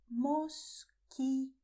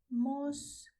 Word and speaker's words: mosquito: And in Spanish, to this bug, you say mosquito. Mosquito. Pay attention to the letter Q because Q is a little dangerous in Spanish because after Q you have a letter U which is written but not pronounced.